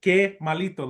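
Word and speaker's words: Kemalito: It's spelled K E M A L I T O. But it's supposed to be like K malito. like little bad like how bad kind of thing.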